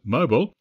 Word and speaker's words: Mobile: But the drill that's taking place next month in Mobile, Alabama, or how our American friends would pronounce it, Mobile, is for a major event that actually happened more than 70 years ago.